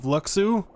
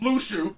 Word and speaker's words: Luxu: We have a case of Luxu. No. No, it's pronounced Lushu. That's how they say it themselves.